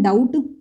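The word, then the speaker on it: doubt: इसमें W silent है, इसको हम रोंग बोलते हैं, इसको हम बोलते हैं डाउट। इसमें बी साइलेंट है, इसको हम बोलते हैं नो, नो।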